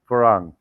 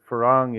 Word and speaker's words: farang: the white foreigner but sometimes all foreigners is farang yes and the thai word for farang if you were to spell it in english letters would be spelled f-a-r-a-n-g